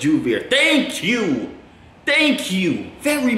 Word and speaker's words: Joovier: It's not Joovier, it's Joovier.